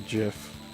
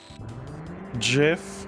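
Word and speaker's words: GIF: Jif of that and yes I did say jiff jiff like the peanut butter feel free to fight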